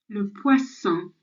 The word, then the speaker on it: poisson: le poisson, Okay, my turn. Le poisson. Your turn. Lovely. So la poisson. So that N sound on the end is silent. So it's an on sound.